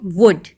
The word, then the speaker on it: would: Next is वुड, वुड मतलब लकड़ी, and here in this वर्ड WOULD, एल is silent, इस शब्द में एल साइलेंट है, तो हम इसको कैसे पढ़ते हैं, वुड, ओके, विल का पास्ट फॉर्म में लिखते हैं, विल वुड, ओके।